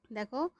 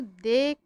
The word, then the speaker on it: দেখ: দেখো, দ একার খ, আমরা কিন্তু দেখ বলছি না, আমরা বলছি দেখ।